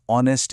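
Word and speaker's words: honest: क्योंकि ऑनेस्ट शब्द में एच बेचारा साइलेंट है और इसकी आवाज और से शुरू होती है जो कि एक वोवेल साउंड है।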